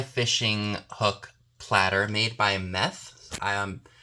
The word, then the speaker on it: Meth: hook platter made by Meth. Yes, like methamphetamine, spelled like that. M-E-T-H.